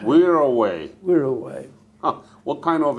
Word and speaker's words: Wirraway: the next model of aeroplane, which was a Wirraway. What was it? A Wirraway. Could you spell it? W-I-R-R-A. W? W-I-R-R. Double R. A-W-A-Y. A-W-A-Y. Yeah, I think that's how. Wirraway.